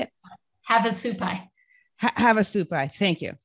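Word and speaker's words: Havasupai: said it wrong how do you say it have a supply have a supply thank you so where to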